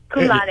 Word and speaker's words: cum laude: I always pronounce this wrong, but how do you say? Is it cum laude? Cum laude, yeah.